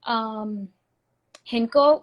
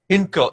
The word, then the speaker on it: Hindko: I speak Hinko, which is like a dialect of Punjabi.